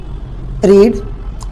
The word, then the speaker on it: read: किसी चीज़ को पढ़ना, newspaper, novel, book, रीड, second form रेड, third form रेड।